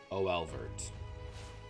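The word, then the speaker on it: Oeilvert: Oilvert? Olvert? O-L. I think Olvert. Yep, got it in one.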